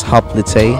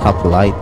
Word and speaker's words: hoplite: i hear these i pronounce it as hoplite not up light oh i think they're